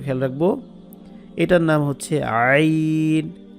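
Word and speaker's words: عين: এটার নাম হচ্ছে আইন, গলার মাঝখান থেকে, কণ্ঠনালীর মাঝখান থেকে, যেটাকে মাখরাজের পরিভাষায় বলা হয়, আরবিতে লেখা যে হলকের মধ্যখান থেকে।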